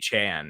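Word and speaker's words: Achane: then he said it's aan actually we're just like ignoring the e at the end silent E uh yeah I mean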